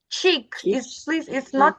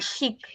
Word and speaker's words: cheek: Then we have cheek. It's not chic. Cheek. Cheek.